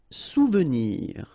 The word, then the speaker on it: souvenir: Souvenir. Okay, O and U, you get OU, souvenir.